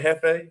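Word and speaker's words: jefe: I think I said it right, Hefe.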